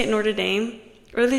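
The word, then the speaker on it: Notre Dame: bad they say it Nord Dame or they say wait the University of Nord Dame Nord Dame they say it like that atast it's okay I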